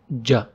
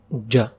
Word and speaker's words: ج: Today we will start with a new letter from the alphabets, the letter ja. Ja. Ja is pronounced like letter J in the word jam.